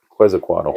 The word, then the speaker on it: Quetzalcoatl: I cannot pronounce it. Quetzalcoatl? Yep, Quetzalcoatl.